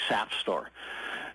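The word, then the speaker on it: SAFSTOR: regulations and it's uh the NRC calls it safe store s St o r AE but if you really pronounce it the way your third grade English teacher told you it's really sap store so this uh uh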